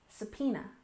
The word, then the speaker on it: subpoena: next we have subpoena we stress the second syllable subpoena subpoena and this is an